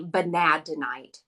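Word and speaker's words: vanadinite: chakra and this is vanadonite or the net people call it or pronounce it different ways I always say banadenite and I freaking love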